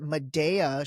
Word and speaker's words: Medea: All right, let's jump right in, because this past week, I think, I believe she pronounces it Medea.